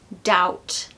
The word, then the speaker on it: doubt: the listen number eight doubt doubt I doubt I'll go out tonight because I'm a bit tired but maybe there's no B here okay don't ask me